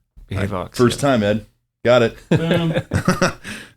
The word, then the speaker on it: Behavox: So Neil is the Chief Marketing Officer at, am I saying it right, Behavox? That's right, Behavox.